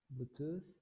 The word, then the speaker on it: Bluetooth: device and bluetooth the the pronunciation is tooth bluetooth and just that so